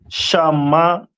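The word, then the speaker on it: שמעון: And Simeon is pronounced in the Hebrew as Shamaiwan.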